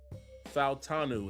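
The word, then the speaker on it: Fautanu: like Troy um and I heard him pronounce his name he says falanu fanu is how he pronounces it getting a guy like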